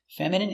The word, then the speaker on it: feminine: Stress on the first syllable.